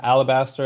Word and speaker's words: Alabaster: for the show, I saw that you're from Alabaster, Alabama. That's how you pronounce it.